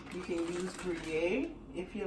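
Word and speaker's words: Gruyère: I would have said gray. Uh-uh. I'm talking about Gruyere. That just sounds like fancy gray. No. Gruyere. Okay. Rhyme with okay.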